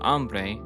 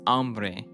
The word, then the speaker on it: hambre: The H isn't pronounced in hambre.